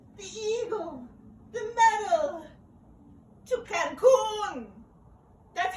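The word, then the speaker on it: Cancún: I came on the plane, the eagle, the medal, to Cancun.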